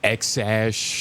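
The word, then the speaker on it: X Æ A-12: Joe Rogan I mean it's just x the letter X and then the AE is pronounced like ash which makes no sense and then a12 a12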